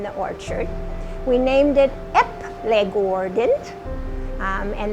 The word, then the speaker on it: Eplegaarden: it ep legoordent and that's pronounced epley gordon and it means the apple farm in norwegian so it was a great name because people could say the apple farm or they could say epley gordon either way it actually